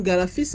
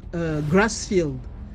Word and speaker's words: Grassfield: gfis la famille africaine galafis en fait une mauvaise prononciation du mot Grassfield Grassfield c'est en fait